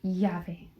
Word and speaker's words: llave: In the Spanish alphabet, y is pronounced llave. It's like a Y in English.